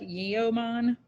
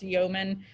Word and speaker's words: yeoman: a word that we have never heard before yeoman it looks like yeoman but it's pronounced yeoman um and that was like an attendant in